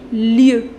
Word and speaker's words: lieux: In order to make its plural, les lieux, lieu avec X. But this X you don't pronounce.